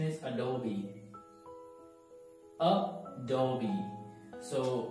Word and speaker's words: Adobe: all already a dog breeder but the right pronunciation is Adobe Oh Dobie so it's better it's treasure would do okay help Thomas express apology Adobe Adobe Reader Adobe Reader next one is Disney Disney